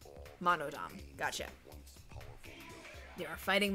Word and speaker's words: Monodam: monodom oh okay sorry it was spelled with a d-a-m so monodom gotcha you are fighting monodum atua is much too